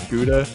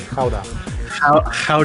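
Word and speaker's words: Gouda: the city of of guda it's not pronounced guda in Denmark it's like uh how or something in the Netherlands we call it how how how to doing Tim we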